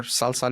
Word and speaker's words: SLSA: framework called Salsa so salsa dodev which stands for um security level Z of software Architects um it's written slsa but it's pronounced salsa so salsa what it